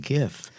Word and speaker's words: GIF: I roll with a hard G. I've always said GIF because I read it first.